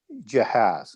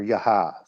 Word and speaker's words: Jahaz: And Israel fights them at Jahaz, or Yahaz, depending on how you want to pronounce that. And Israel defeats his army and annexes all of the cities of Sihon, including Heshbon.